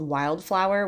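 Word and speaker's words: Wildflour: little breakfast place called wild flow which it's spelled like f l uur so like flour like baking flour haha um it was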